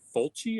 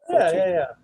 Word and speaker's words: Fulci: I think someone tweeted about it a few weeks ago, and then there was another one called by Fulci. I think that's how you pronounce it. Fulci.